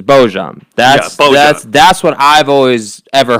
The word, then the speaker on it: Bojan: Okay, so Bojan apparently is like the proper pronunciation, but most people here, not here being on the show, but like in the league and everything, as far as I've ever heard it, is Bojan.